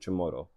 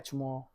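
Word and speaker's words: Chamorro: The And you pronounced it chimoro. Yeah. Chammoro.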